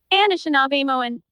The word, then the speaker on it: Anishinaabe: Anishinaabe Anishinaabe.